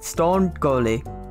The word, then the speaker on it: Stonegol: stone gold sounded fun that's how i pronounce it stone goalie loading screens is so long y'all remember